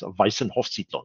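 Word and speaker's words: Weissenhofsiedlung: german very well but i have learned to pronounce weisenhofsito it's one of my favorite names so the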